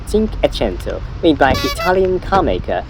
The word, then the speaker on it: Cinquecento: Cinquecento is Italian pronunciation of 500. Cinquecento, like 500. Some Japanese often call this car Cinku Cinku, so little bit wrong.